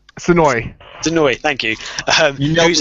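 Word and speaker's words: Senoue: Also, they've got live music from, I can never pronounce this guy's name, Jun Senue? Sonoy, thank you.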